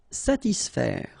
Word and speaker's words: satisfaire: profiter, calmer, satisfaire. Okay, so satis, and then remember A and E together will produce the sound E, so faire, satisfaire, satisfaire.